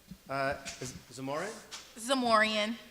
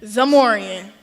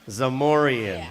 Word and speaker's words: Zamorian: Okay, Z, more, more, re, re, and N, Zamorian. Zamorian.